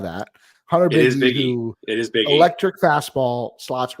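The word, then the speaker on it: Bigge: Do we know the pronunciation? Biggie. Is it Biggie? Love that. Hunter Biggie. It is Biggie.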